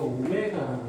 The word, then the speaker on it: 오메가: 그 한 허근을 오메가, 이거 오메가라고 해요. W라고 읽지 마세요.